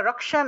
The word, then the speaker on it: রক্ষেন: मे धर, রক্ষেন মে, এখানে দন্ত নয়ের নিচে হসন্ত আছে, হসন্ত থাকে আমরা রক্ষেন উচ্চারণ করেছি, রক্ষেন। যদি দন্ত নয়ের নিচে যদি হসন্ত না থাকতো তাহলে রক্ষেন উচ্চারণ করতাম, রক্ষেন, তাহলে হসন্ত থাকায় রক্ষেন উচ্চারণ করব।